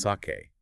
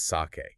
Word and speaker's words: sake: It is pronounced sake. Not sake, like for heaven's sake, it is sake.